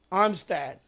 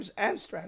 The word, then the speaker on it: Amstrad: So, you had it for the Armstad or the Amstrad. How you pronounce that? I thought it was Armstat or Yeah, Am Amstrad.